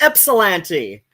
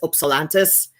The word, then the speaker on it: Ypsilanti: It's like locally, it's like an I, Ypsilanti. Technically, the town's namesake is Greek, Demetrius Ypsilantis.